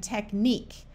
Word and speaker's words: technique: U says like in the word mosque torque critique and technique notice in these words the U and e at the end are all silent mosquito is not French